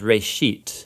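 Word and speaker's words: בראשית: it's called Genesis Genesis comes from a Hebrew word it's pronounced race sheet and it just means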